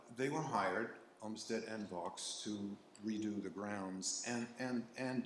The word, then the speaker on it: Vaux: And in 1860, Flo and Vaux, that is how his name is pronounced, right, came and did a